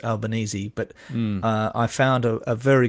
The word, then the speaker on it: Albanese: how do you pronounce Albanese but I found a very good video of him saying it's in as in spaghetti bolognese and he said I'm